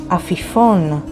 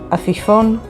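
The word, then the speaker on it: עפיפון: Here is an example, the word afifon, which means kite, and it is spelled with ayin, P, Yod, P, Vav, Nun sofit, afifon.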